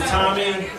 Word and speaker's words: Thommy: Alright, so my name is Thommy. It's spelled Thommy. I know it's kind of weird. The H is silent.